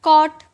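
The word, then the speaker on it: caught: इस जी एच का साउंड आया इसे बॉ ट बॉट वैसे ही कॉट कॉ ट यह साइलेंट है।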